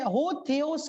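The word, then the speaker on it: ὁ θεός: जो ग्रीक लोग यदि परमेश्वर का नाम ले तो जो है हो थेओस के रूप में वो प्रोनाउंस करते हैं।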